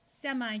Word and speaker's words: semi: Semi can also be pronounced semi, so it could be semi-respectable.